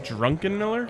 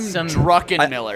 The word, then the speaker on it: Druckenmiller: Did you say his name was Jim Drunkenmiller? Yep, Jim Druckenmiller.